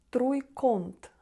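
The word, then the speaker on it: trójkąt: Якщо, наприклад, о стоїть всередині, то вимовляється власне як он. Труйконт. Так, труйконт.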